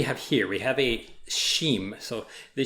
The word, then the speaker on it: XIM: here we have a sheem so the sheen token is they right here this sheen the x is pronounced like an sh kind of the shim token is